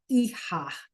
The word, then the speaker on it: hija: The H is silent and the J sounds like an H. So I'll say them one more time. El hijo, la hija.